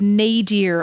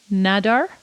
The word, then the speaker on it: nadir: Well, and then the like absolute nadir of all of this was, is that the correct pronunciation? Nadir. Nadar? It's definitely not Nadar.